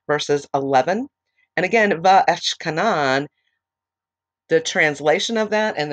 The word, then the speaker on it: Va'etchanan: Today, we're going to be covering Va'etchkanan, and actually, it is spelled V-A-apostrophe-E-T-C-H-A-N-A-N, and that is the Parashat for this week.